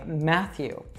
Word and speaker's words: Matthew: So his first name, we would actually say Matthew. So it has two T's, but we only pronounce a TH sound there. Math, like if you study math, Matthew.